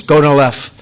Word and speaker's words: Gonal-f: So it's Gonal-F. Is that a proper pronunciation? Very Close well enough, done.